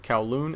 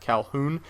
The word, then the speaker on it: Kowloon: It's Sam, or xJawz, and today I'm bringing you guys a team deathmatch game on the map Kowloon. Notice I said Kowloon and not Calhoun.